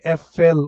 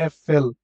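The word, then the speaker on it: Äpfel: একের অধিক যেহেতু তার মানে কি হবে ডি এফ এল উচ্চারণটা হবে এফএল এফএল লাইক এরকম ঠিক আছে ডি এফ এল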